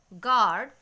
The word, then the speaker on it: guard: So, be careful with the sound of U next time when it comes after the letter G. So, the pronunciation will be guide, guard and tongue.